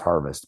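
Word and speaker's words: Härfest: And so yeah, Harvest Coffee Company, HAERFEST, Harvest Coffee Company. It's pronounced Harvest, but in Davidson, North Carolina.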